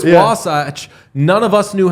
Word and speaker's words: Wasatch: Wasatch.